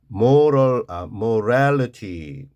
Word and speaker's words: morality: 요거는 강세가 없으면요, 약하게 level, figure out, volume, argue, 주장하다, morality, 도덕성. 이 moral 하는 게 형용사, 도덕적인 moral. 근데 뒤가 붙으면요, 강세가 moral이나 morality 이렇게 뒤로 가요.